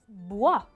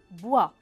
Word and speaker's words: bois: خشب en français منقول له du bois. du bois. bois كمان بيتضمن حرف ما بلفظه، شو أي حرف هو؟ le S بنحطه بآخر الكلمة بس ما بنلفظه أبداً. du bois.